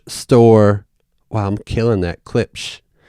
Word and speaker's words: Klipsch: Klipsch. That's exactly how it's spelled.